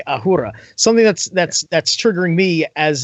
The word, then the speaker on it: Ahura: Acura, which is a cowboy way of saying Ahura, which is how it's pronounced, and then Mazda, which is another car company.